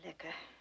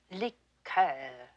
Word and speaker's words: liqueur: I'm afraid I don't care for liquor. When referring to a cordial, we use the French pronunciation. Liqueur, Miss Tinsley.